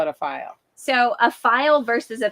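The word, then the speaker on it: faille: of a file fabric it's got a crazy way you spell it f-a-i-l-l-e and we say file and you might say fail but we say file and then some people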